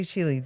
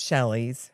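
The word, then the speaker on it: Shelee's: Shealy's is this We say Shealy's it's Shelley's. Mhm. But it's spelled s h e l e e s. So is it Shealy's? Cuz it's she lee. Mhm. And they said you said you found out it was Shelley.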